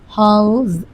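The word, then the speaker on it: house: আচ্ছা, এখানে আরেকটা হাউস, ই, হাউস, এস, দেখ হাউস আমি বলছি কিন্তু হাউস, HOUS, হাউস, ইটা কি আছে, সাইলেন্ট আছে, মানে ইর উচ্চারণ আর হচ্ছে না, সেক্ষেত্রে আমরা কিন্তু কি দিব, শুধু এস দিব।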